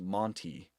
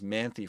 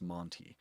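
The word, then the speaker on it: Manthey: Um, there's the Somebody told me that it's pronounc uh pronounced Monty Monty Racing. I thought it was Manthy for the longest time, but somebody told me it's Monty.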